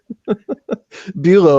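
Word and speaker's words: Beaulieu: and his buddy trace boo-yeah Bulow i think is how it's pronounced it's he played the original crow T robot as well as dr.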